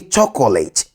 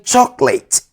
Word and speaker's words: chocolate: Don't say chocolate. The O after the C is silent. Therefore, say chocolate.